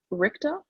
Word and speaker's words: Richter: um we've had debate over how to pronounce this richter i hope i'm pronouncing that correctly you got